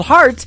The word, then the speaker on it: Hart: on her last name and that is called heart in two places yeah I just like your heart that how that's spelled and uh she is actually formerly from